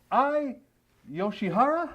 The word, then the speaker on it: Ai Yoshihara: My guest today is Ai Yoshiara?